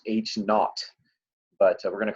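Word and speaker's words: H₀: and we're gonna call that oh it's actually pronounced H naught but we're gonna call it H oh all right we'll call it H oh the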